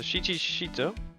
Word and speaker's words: Shichi Shito: The Shichi Shito. Did I pronounce that okay?